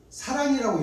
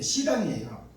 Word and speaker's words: 시랑: 그런 일이 있을 때에 들짐승 곧 시랑과 및 타조도 사랑이라고 읽었는데 시랑이에요. 시랑이라는 것은 들짐승 중에 히라소니 같은 무자비한 공격성을 가진 들짐승을 시랑이라고 그래요.